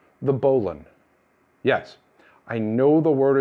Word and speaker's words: bowline: a stopper knot this one is called the bolon yes i know the word is spelled bowel line and pronounced bo lun but there's a reason for this it was